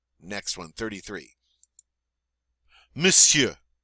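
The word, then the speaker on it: monsieur: you try it now this one's a little bit odd because it looks like we should say but we don't we pretend like the o n's not there and we just say m don't know why we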